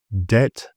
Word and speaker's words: debt: So B is often quiet if it follows an M or before a T.